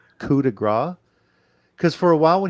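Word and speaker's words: coup de grâce: a coup de grace, it sounded like he was saying Finn's going to give him the Tim McGraw. Because that's exactly the way he pronounced it. He was still trying to figure the French part out, I guess.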